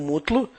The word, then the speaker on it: Mutlu: Meu nome é, comigo está o Mutlu, e a propósito é A-S-A-F, e Mutlu é M-U-T-L-U.